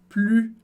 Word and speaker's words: plus: francês a gente tem plus. Super interessante, se escreve da mesmíssima maneira, mas em francês a gente não pronuncia o S do final, você já sabe lá